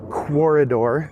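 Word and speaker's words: Quoridor: game from Gigamic Games called Corridor, spelled like the word corridor, only Q-U instead of a C at the beginning.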